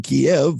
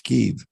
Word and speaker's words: Kyiv: From what I saw, instead of saying Kiev like everybody knows it to be, now it's Kyiv.